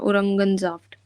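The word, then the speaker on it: Orangensaft: बार औरंगनजाफ्ट औरंगनफ औरंगनफ्ट ज नहीं बोलना ग बोलना ओरंगजाफ्ट उरंगजाफ्ट हम गुड तो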